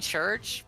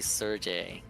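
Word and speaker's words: Cherche: talking about I feel like I've been saying church but it's been wrong this whole time nobody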